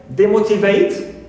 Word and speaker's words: demotivate: Also, we have the prefix D, like demotivate. Right, so D here also is neutral, and the stress syllable is shown here, okay, as usual in the original word, and on its stem, one of its stem syllables.